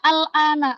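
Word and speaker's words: الآن: Ini dibacanya al-ana aslinya. Al-ana. Nah, kalau disambungin, umril an ya.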